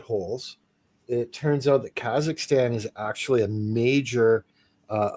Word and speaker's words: Kazakhstan: So, y'all are saying Kakistan. Kazakhstan. Kazakhstan. It's spelled the same way, is it?